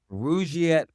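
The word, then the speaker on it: Rugiet: But if you're looking for something beyond the usual pill, meet Rouette Ready. And Rouette is spelled R U G, like rug and I t.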